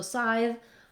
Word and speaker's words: scythe: the S sound where the C is silent, like in scythe or science or other words.